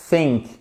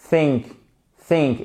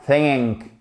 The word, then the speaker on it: think: Et vous en avez un qui est dit soft, donc qui est sourd par exemple think think et pas think.